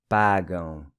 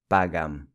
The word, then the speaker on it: pagam: This AM in Portuguese is pronounced with a nasal ão sound. Pagam, not pagam.